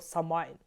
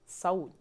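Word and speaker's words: Samhain: і а насправді Та це слово з ірландської саме читається як саунь там зв'язка букв читається не так як в англійській мові звідти ми з вами маємо викривлену назву цього свята і тепер ця назва у нас максимально прожилася правильно називати це свято саунь коли ж правильно святкувати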